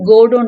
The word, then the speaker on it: Godot: ஸோ இங்க வந்து டி பாத்தீங்கன்னா சைலண்ட், ஸோ கோடோன்னு தான் இதை ப்ரொனவுன்ஸ் பண்ணணும்.